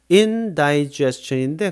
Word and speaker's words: indigestion: 그래서 indigestion인데 그냥 gest의 그 강세가 있기 때문에 die라고 잘 발음 안 하고요. indigestion 이렇게 표현을 해요. 발음을.